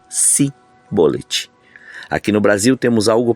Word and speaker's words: Sibolete: Porém, Sibolete era um dialeto efraimita e eles não conseguiam articular e pronunciar o som de CH nessa palavra e a pronunciavam de forma diferente, ou seja, Sibolete.